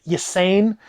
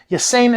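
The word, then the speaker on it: Ysanne: It's spelled Y-S-A-N-N-N. I've always said Ysain. Ysain Isard, who was a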